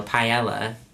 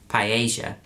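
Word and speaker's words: paella: you how much because the Spanish pronunciation of when there's two L's together in a word is J so Pella British Pia Spanish it's p not if anyone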